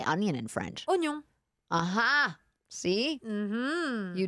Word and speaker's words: oignon: Oignon.